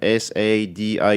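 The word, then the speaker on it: Sadie: them is s family spell it uh s a d i e Sadi family and they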